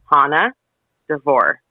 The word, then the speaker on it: Hana Devore: just replied good morning my name is pronounced Hana dor I was right dor on the downbeat podcast